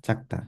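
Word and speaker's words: 작다: So for example, here we have chakta. It's spelled with a j, yet I'm pronouncing it with a ch sound.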